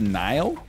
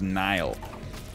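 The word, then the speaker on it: Niall: make any damn sense how is n-i-a-l-l pronounced nile he's irish ah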